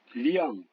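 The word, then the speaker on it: 亮: IANG, ou alors YANG, se prononce comme dans pliant. Par exemple, le mot qui veut dire brillant, liang.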